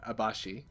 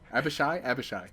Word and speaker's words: Abishai: So, okay, I do have a question about the Abashi. Yeah. Abashi? I don't know how to pronounce it. Abishai? Abishai.